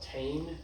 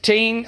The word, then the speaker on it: Tein: It's called Tein. It's like Tein, oh yeah, Tein shocks, T-E-I-N, I think that's how you spell that.